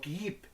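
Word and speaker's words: Kyiv: ciudad castillo de kid que se pronuncia quiero en ruso o keep en ucraniano las diferencias entre el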